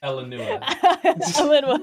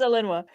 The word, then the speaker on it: Elinua: Elinua. Yeah, it's Elinua. 3 syllables.